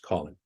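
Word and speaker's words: COLYN: letters for example the c-o-l-y-n Waypoint would be pronounced Colin the flight procedures are colored purple for departures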